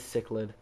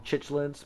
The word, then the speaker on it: cichlid: It is Cichlid. Cichlid. Yeah, Cichlid. I used to call them Chichlids before I knew how to pronounce it, but it's pronounced Cichlids.